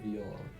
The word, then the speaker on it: viola: sound of a well-played viola? Squeaky, pitchy, mellow, reedy. Gonna go with mellow. Squeaky is a tempting one, but you would pronounce viola in this manner. Viola. That's like the actor Viola Davis, whose name is all